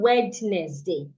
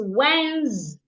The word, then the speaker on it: Wednesday: It's not Wednesday. It's Wednesday. The S in Wednesday makes a Z sound.